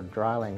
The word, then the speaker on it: Drilling: configuration in Europe with the drillings were drying as it's pronounced in German but I didn't really